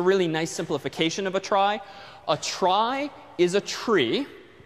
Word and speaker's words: trie: the word retrieval which for some reason is pronounced different from the word tries but a try is a tree the word tree was already